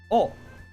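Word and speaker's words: を: Oh. Tabe nai de whoa, my god, what am I doing? Kudasai. Nasu. O pronounced O.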